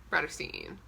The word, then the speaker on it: Bratterstein: name is brittany and my channel name is pronounced broad of scene today's videos i'm sure you gather from the